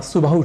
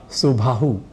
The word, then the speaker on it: सुबाहु: वाला अच्छी बाहु वाला पर बाहु और सुबाहु के उच्चारण के क्रम में हम में से कई कह जाते हैं भाह या सुभाह ऐसे ही भुजा को